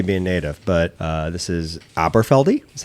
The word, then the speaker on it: Aberfeldy: Well, you may know the pronunciation better than me being native, but this is Aberfeldy is how I'll pronounce it.